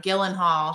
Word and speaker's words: Gyllenhaal: I always say his name wrong. Gyllenhaal.